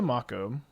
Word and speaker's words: Mako: Please, Mako is the right pronunciation.